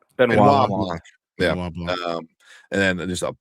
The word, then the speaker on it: Benoit Blanc: Was it how do you pronounce his name? Benoit Blanc.